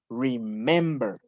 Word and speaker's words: remember: Porque remember, el acento está en mem. Remember.